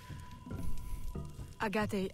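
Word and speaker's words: Agaté: Agate. Who I previously was calling a gate. Look, I pronounce it how it's spelt. It is spelt a gate, not a gutte, alright?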